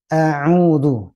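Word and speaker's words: أعوذ: Kemudian sahabat Nur Hasanah, mulai dari ta'awud itu harus terbiasa dengan pengucapan yang fasih. A'udhu, tidak a'udhu bil a'u.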